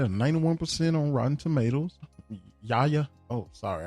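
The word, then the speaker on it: Yahya: Yaya. Oh, sorry. I think that's how you say his name. Yaya. Yaba Abdul Matin.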